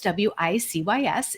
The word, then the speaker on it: WiCyS: We often go by our acronym WiCyS, W-I-C-Y-S, and we pronounce it WiCyS, like we sisters, because we are a cyber sisterhood.